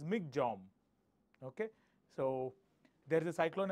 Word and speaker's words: Michaung: Cyclone MC J right you pronounce it as MC J okay so there's a